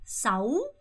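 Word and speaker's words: sáu: 일단 그냥 읽어보세요 아니고 싸우 우 발음 잘 하셔야 돼요 4호 아니고 싸우 싸우 오케이 그 다음에 요거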